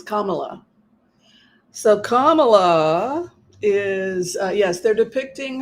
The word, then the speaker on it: Kamala: s slimy very racist comma it rhymes with Poma um yeah I think